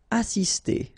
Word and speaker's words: assister: Assister. Okay, remember, vowel, vowel, double S, really strong S. Assister.